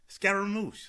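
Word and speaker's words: scaramouche: The black log word of the day is scaramoosh. Scaramoosh spelled s c a ar a r a m o u c h e.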